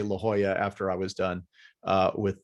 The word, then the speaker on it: La Jolla: That would be La Jolla. Okay, see? La Jolla.